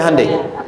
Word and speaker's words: Hyundai: Sehingga ketika di sana bikin Honda, sini Handai. Hyundai kan dibacanya Handeai ya kan.